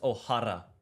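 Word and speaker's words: O'Hara: It is Ohara. Miguela. All right. We're saying it differently, aren't we? Uh, pretty it's it's written O H A R A Miguel.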